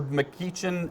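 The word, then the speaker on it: McGeachin: her show so um lieutenant governor mckeachen uh is how you say it she's from here in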